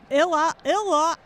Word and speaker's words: Illowa: So how did you pronounce that? Illowa. Illowa. Okay. Because Illinois, Iowa. Yeah, but I thought we're